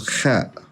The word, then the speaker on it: خ: It's pronounced from the top of the throat and almost closing the throat with your tongue.